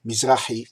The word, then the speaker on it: Mizrahi: My name is Mizrahi, which is pronounced "Mizrahi" in Hebrew.